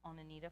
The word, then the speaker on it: Oneonta: It looks like it says Oneonta, but I've heard it pronounced as Onanita Falls.